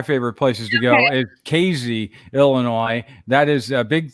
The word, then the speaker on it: Casey: ever put up look up casey they say casey it's spelled casey c-a-s-e-y it's right off i-70 not